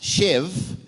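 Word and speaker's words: שב: it's pronounced shev. É pronunciada shev, It means to sit down.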